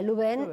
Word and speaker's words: Lubén: registró, lo tomaron mal, debería escribirse Lubains, pero lo pronuncia Luben y quedó Luben.